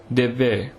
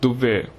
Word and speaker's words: Devve: The Badagas of the Nilgiris hold an agricultural festival called Devve, which should on no account be pronounced Duvve, which means burning ground.